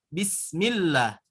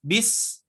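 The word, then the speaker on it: بسم الله: huruf ta itu digigit Nah kalau untuk huruf ta itu cara pengucapannya itu hampir mau tersenyum sah-sah bismillah bismillah jangan bis Nah itu kan terlalu tebal jangan bis itu terlalu tebal tapi bismillah bismillah bismillah jadi angin yang keluarnya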